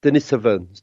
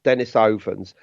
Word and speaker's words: Denisovan: they say the same so it is Dennis ovens not Denisovans I suppose to some people it's going to be tomato and tomato isn't it but okay I mean it's it's pretty it's definitely pronounced Dennis oven so now and and